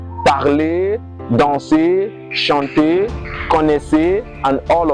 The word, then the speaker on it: parler: Words ending with ER, they are pronounced as A. A, like parler, jouer, danser, habiter, they are pronounced as A.